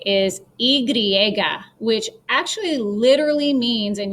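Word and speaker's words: y griega: l comes from but it's not igliega it's igriega with an r there okay it can be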